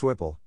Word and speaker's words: SWPL: become common to use the initialism swpl pronounced swipple to refer to the